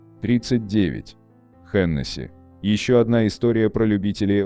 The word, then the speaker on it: Hennessy: Но в действительности правильно так, как мы привыкли Hennessy. И связано это не с правилами французского произношения, а с фамилией основателя коньячного дома. Ричард Хеннесси был ирландцем.